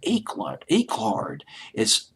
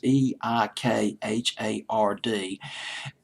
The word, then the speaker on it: Eikhard: This song, Something to Talk About, was written by a woman named Shirley Eichhard. I can't pronounce her last name. It's Eikhard.